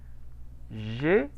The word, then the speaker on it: J'ai: J'ai 44 ans. ¿Cómo lo pronuncié ese diptongo? Omitió el diptongo, ¿no? No lo omití. Lo pronuncié. Dijo ye. Ajá. Pues como una E.